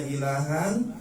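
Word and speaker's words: إلها: Nah, kita tadi berhenti pada ilaha tadinya ilahan kita berhenti jadi ilaha namanya mad iwad.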